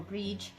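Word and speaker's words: Brigid: But the other Irish goddess that I also feel very connected to is the goddess Bridget, or Breege, and my daughter's name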